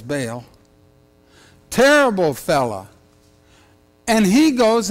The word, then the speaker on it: Baal: always pronounced that wrong I was thinking ought to beat ball but it's bail terrible fella and he